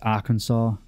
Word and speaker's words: Arkansas: Then have the now, Americans would pronounce that Kansas, but this is Arkansas, not Arkansas.